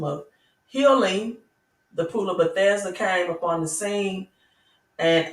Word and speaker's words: Bethesda: There was a man at a pool of is it Bethel? I want to say it right. Or Bethusia. But he was ill and sick, right? And Bethesda, that's what I'm trying to say.